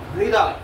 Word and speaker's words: হৃদয়: হ বর্ণটি যখন র বর্ণটির সাথে যুক্ত হয়ে যুক্তাক্ষর গঠন করবে তখন ৮০ ভাগ র, কত ভাগ র? ৮০ ভাগ এবং ২০ ভাগ হয় উচ্চারণ হবে।